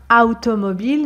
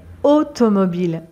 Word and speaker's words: automobile: on ne dit pas automobile mais automobile automobile a plus U en français se prononce o o automobile une automobile